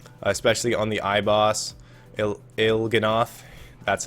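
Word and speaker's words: Il'gynoth: It's going to have its moments for me as well, especially on the eye bossil Ilgenoth.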